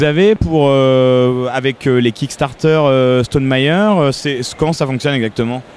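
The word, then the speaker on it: Stonemaier: y a site alors je le prononce à la française parce que c'est un petit peu compliqué à prononcer à l'anglais c'est c'est quoi c'est c'est St meer c'est ça le l'édition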